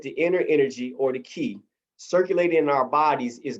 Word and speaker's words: qi: 12 primary key channels this is spelled qi or key rivers and eight vessels or